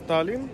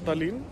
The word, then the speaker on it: Tallinn: city hall of tallinn the pronunciation is tallinn not talin i'm in the city